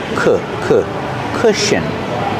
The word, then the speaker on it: cushion: Pronunciation, the first vowel makes a short sound like book and look. Together, cushion. Sh. Together, cush. Cushion. The last syllable is a relaxed sound.